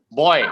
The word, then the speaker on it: buoy: Boy, guys, boy is exactly the right pronunciation.